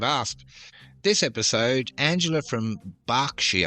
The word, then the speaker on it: Berkshire: This episode, Angela from Berkshire, I'm pretty sure it's pronounced Berkshire, but it's written Berkshire in the UK, asks, "Which Englishman starred as Ned Kelly in the 1970 movie of that name?"